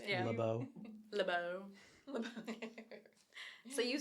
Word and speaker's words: LaBeouf: pronounced Yeah. LeBeau.